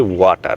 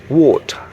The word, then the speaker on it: water: এটার প্রোনাউন্সিয়েশনটা ঠিক হবে ঠিক এরকম, ওয়াটার না, এটা হবে ওয়া না, ও ও। আর টার যে আছে এটাকে জাস্ট জাস্ট ধরে ছেড়ে দিতে হবে, ওয়াটার ওয়াটার ওয়াটার।